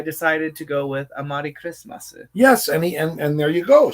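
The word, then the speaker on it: クリスマス: regular Amari, it's Amari Kurismasu. Kurismasu. The Japanese way to pronounce Christmas.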